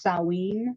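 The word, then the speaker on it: Samhain: it's written it's written Sam ha but it's pronounced saen sa even I have issues it's okay and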